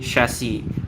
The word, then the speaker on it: chassis: the answer is actually chassis. Like this one, it's like it's kind of pronounced sh. It's like you don't call it a chandelier, you call it a chandelier, right? It's actually an sh sound.